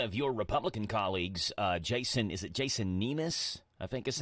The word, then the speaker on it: Nemes: Yeah, it looks like one of your Republican colleagues, Jason Nemes, I think is how you say his last name? Yeah, Nemes.